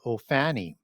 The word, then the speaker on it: Ophanim: term that's used for these throne angels called Ophanim. That's O P H A N I M, sometimes spelled with a double N in the middle there.